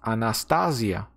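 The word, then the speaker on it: ἀνάστασις: It is pronounced Anastasia.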